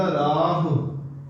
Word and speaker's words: ਰਾਹ: इनू राह हो नहीं कहना। हाहे नू औंकड़ लगी है, घोड़ा नहीं लग्या। जे घोड़ा इनू कहते ने लघु मात्रा औंकड़ नू राह। इनू एवें उच्चारण करीदा राह। जे राह हो कवांगे ते घोड़े दी आवाज दवेगा।